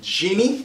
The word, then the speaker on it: Jeannie: I'm here today with Jeannie. Am I saying it right? You are. Yes. Like I dream of Jeannie, right?